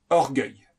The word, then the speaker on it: orgueil: la joie ambitieux c'est l'ambition orgueilleux c'est l'orgueil prononcé orgueil orgueilleux orgueil orgueilleux orgueil alors l'élément c'est le feu l'astre c'est le